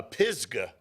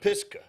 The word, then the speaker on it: Pisgah: were even told on the correct pronunciation of a school here in this state that we had a game uh Pisgah you know and and how to pronounce that instead of piska you know or vice versa 100 and in fact I've just started spelling it with a z because I'd rather get in trouble for the spelling than the pronunciations so I just lets